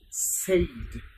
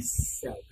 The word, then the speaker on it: said: this country are experienced they pronounce is saved but the pronunciation would be said listen to me very properly said he said to me don't do this he said to me said as heinous a IDI he said to me don't do this not saved but said he said to me